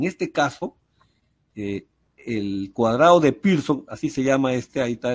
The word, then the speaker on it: Pearson: Ellos no dicen Pearson. Cuando escriben la palabra Pearson, ellos dicen Pearson, como que si fuera una I. La E y la A la hacen I.